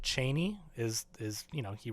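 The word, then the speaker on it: Chani: and Chie who it's Frank Herbert pronounced it Cheney is is you know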